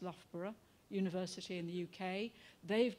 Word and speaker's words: Loughborough: got an installation in in a university that's pronounced loughborough university in the uk they've done a lot